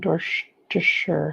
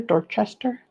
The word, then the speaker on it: Dorchester: I'm in Dorser. How do you say that? Dor Dorchester. Dorchester.